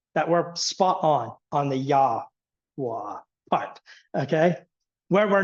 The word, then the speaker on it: Yahweh: But we know for certain that Jehovah is nothing at all how the Hebrews would have said. We know that the vowel pointing is coming from Adonai, not from the correct pronunciation, however it was pronounced, from Yahweh.